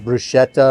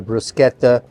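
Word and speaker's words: bruschetta: this is kind of a brushetta or brusketa depending on how you like to pronounce that word I'm not hung up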